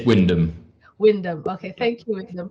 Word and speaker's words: Wyndham: Sorry, I can't pronounce the name. I missed the start. How do you say your name? It's Wyndham.